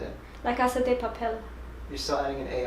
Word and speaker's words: La Casa de Papel: They're adding in like an A when it's just de. La Casa de Papel. Papel. Papel. Papel. Yeah. Papel. Say it. La Casa de Papel.